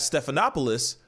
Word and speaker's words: Stephanopoulos: meeting, and you got, I forgot how to pronounce his name, Stephanopoulos? Stephanopoulos? Yeah. Thank you. You got Stephanopoulos out here just being calm, talking to Biden.